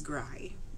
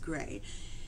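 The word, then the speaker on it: Grai: Charlotte Russell's career she is a phenomenal singer gray so it is spelled g r a i on YouTube and I have been pronouncing it as gry until I started doing some research for this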